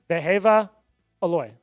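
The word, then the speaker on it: Wehiwa Aloy: Throw the W out. It's a V. Vehava. Aloy.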